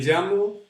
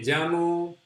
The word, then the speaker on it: llamo: Me llamo Jorge. Me llamo Jorge. That's how we say our name. Me llamo Jorge. Remember, we pronounce that double L as ya. So we say ya, ye, ji, yo, you.